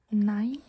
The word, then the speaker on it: nei: Nei. Nei means no. So if you know the German word nein, N-E-I-N, nein, it's pronounced the same, just without the N.